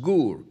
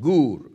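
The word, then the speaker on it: גּוּר: Now, interestingly, the Hebrew word translated abide is gur, pronounced gur. J-U-R, a long U sound, gur, or double O-R, gur.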